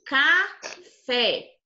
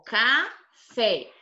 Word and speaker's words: café: Aqui, café. Ó, café. O fé é a sílaba mais forte.